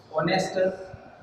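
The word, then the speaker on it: honest: यहाँ पे कुछ एग्जांपल्स हैं जिनके जरिए हम इसको समझेंगे कि जब शब्द एच से शुरू हो रहा है लेकिन एच के रूप में ना हो, अर्थात एच के साथ वहाँ पे साइलेंट हो, तो उस कंडीशन में भी हम एन का प्रयोग करते हैं।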